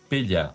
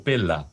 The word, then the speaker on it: Pella: Pues mira, eh, con Julio coincidimos en en Grecia, precisamente en en un pueblo que se llama Pella o Pela, depende, se escribe con dos Les.